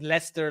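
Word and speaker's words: Leicester: I don't know why I don't understand why you guys pronounce Lester that way like it's it's written as leer but it's pronounced as Lester like you guys are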